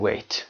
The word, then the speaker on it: weigh: Avoid eating late at night if you don't want to gain weight.